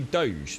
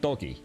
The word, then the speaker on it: Doge: it right it's spelled so it's actually doge not doggy i'm confused though uh